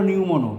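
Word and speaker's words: pneumono: Lung হলো নিউমোনো, পি উচ্চারণ হবে না, পালমোনারি।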